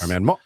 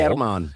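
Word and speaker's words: Germán: Didn't notice the accent on the A. I've been calling him German Marquez. It's German Marquez. Herman. Yeah, the accent on the first syllable. Herman.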